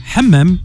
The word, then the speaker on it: Hammam: Hammam, j'espère que je le prononce bien. Alors oui ou non? Exactement, c'est ça. Hammam, Hammam. Ouais. À pas confondre avec le hammam.